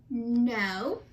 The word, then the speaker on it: know: Number 1 was no. Remember, there's a silent letter in the beginning of that.